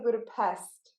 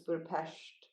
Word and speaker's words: Budapest: you don't say Budapest because they're not a pest. Apparently, they have 44 letters in their alphabet or something, Oh, and the S-E makes a sh, so it's Budapest.